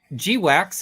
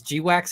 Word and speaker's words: GWACS: last time but seriously is g-wax any better you know wax rhymes with ducks but g-wax sounds like a product you get at sort of the CD uh CD sex shop so um I don't